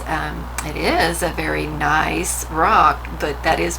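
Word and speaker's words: gneiss: and you'll get what we call nice it begins with the g we'll get the spelling of it here in just a second but this is um it is a very nice rock but that is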